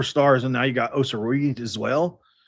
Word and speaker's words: Osaruyi: It's Osaruyi. There it is. Osaruyi. There we go. I think I've got it now. Paul Osaruyi. So, you've got the 2 4 stars, and now you got Osaruyi as well.